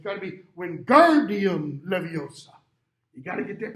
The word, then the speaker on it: Leviosa: that wrong it's got to be when guardian leviosa you got to get that pronunciation on the right syllable ron's just like